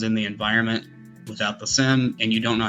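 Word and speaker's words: SIEM: It's SIM. It's pronounced SIM, like a SIM card in a phone.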